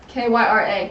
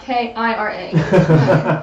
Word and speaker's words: Kyra: Kira with 2 I's, so Kyra, not Kira.